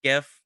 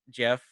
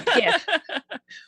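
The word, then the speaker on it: Giff: longtime favorite, the GIF, which I believe is pronounced GIF, not Jeff. I think I've heard it both ways. I'm sure it's open to interpretation. It's not. It's not? Okay, gotcha. It's a GIF.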